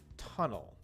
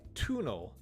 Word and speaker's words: tunnel: the word tunnel now you notice that it's not like tunal tuna that's not how we usually say that it's ta it has an uh sound which we usually call a schwa or an unstressed vowel tunnel tunnel so we have tunnel